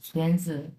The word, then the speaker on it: 孙子: বড়, 孙 হ্যাঁ 子， সুয়েনজু, সুয়েনজু। 孙子， এখানে হচ্ছে 孙， এই যে সু, এটা উচ্চারণ হবে সুয়েন, সুয়েন এটা উচ্চারণ হবে সুয়েনজু।